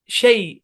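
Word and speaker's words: chez: একটা শব্দ হচ্ছে সেই, এখানে জেডটা সাইলেন্ট।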